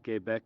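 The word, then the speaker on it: Québec: the quebec channel convoy quebec ottawa i'm pronouncing that in french specifically because it's per it's spelt that way it's an i not a y com i quebec and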